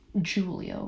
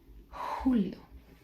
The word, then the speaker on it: Julio: We also have the J in Spanish which is you would not say Julio, right? You would say Julio. In Spanish it sounds much more like um like an inch. So you breathe into it.